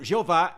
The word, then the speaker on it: Jeová: do nome de Deus que é pronunciado Jeová em português e a Veia no hebraico agora para ajudar a